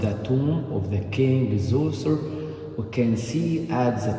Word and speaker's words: Djoser: How do you say Djoser? Say it for me. Yeah. Djoser's?